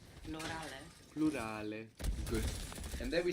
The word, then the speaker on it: plurale: And the U is like ooh. Plurale.